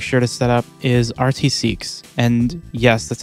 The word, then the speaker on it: rtcqs: I always make sure to set up is RT seeks and yes that's how you pronounce it basically it's a python script that